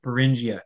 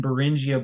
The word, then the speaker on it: Beringia: supposed dry land of beringia yes there are it's spelled b r um like bearing b r i n g i a and if